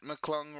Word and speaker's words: McClung: Uh Matt McClung rhymes with hung.